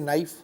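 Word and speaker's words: knife: हम साइलेंट मानते हैं जैसे नाइफ तो के उच्चारण में नहीं आता इस तरह से हम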